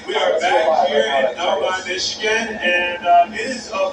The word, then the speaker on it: Novi: Now on that left side of your screen there, we see Novi, Michigan. It is spelled N-O-V-I. I thought it was Novi, but it's Novi. So 2 stops there in the great state of Michigan.